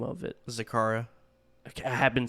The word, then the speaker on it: Zacara: coming up what is the name of it zakara i have been saying it right thank the